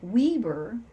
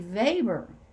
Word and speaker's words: Weber: know that um his last name which is spelled like weber was actually weber i didn't know that's how you pronounce it